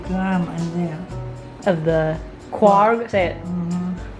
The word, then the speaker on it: Quark: in there of the quad how do you say it it's a cork okay so now we're